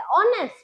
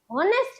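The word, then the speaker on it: honest: क्योंकि यहां पर ऑनेस्ट में एच जो है वो हमेशा साइलेंट होता है। एच जो है उसे हम प्रोनाउंस भी नहीं करते। सिर्फ स्पेलिंग में लिखते हैं। ओके? लेकिन वो साइलेंट होता है। प्रोनाउंस करने में भी नहीं होता है लेकिन सिर्फ वो स्पेलिंग में होता है। होकर भी नहीं है। सिर्फ इतना ही फर्क है। ओके? तो जब हम इसको बोलते हैं तो हम हम किससे बोलते हैं? ऑनेस्ट।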